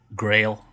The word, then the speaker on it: GRL: so she signed with grail i guess that's how you say it's grl but it's grail girl i thought it was girl dude yeah me too it's grail um she's the new